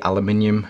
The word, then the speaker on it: aluminium: air grade aviation aluminium we say aluminium here in the UK it was actually the Americans that say it correctly so here ya go